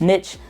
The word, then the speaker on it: niche: This niche, or you may hear it pronounced niche, it's really niche, but doesn't matter.